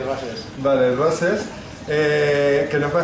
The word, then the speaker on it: Roses: Roses, lo pronunciamos en español, entonces. Sí, Roses.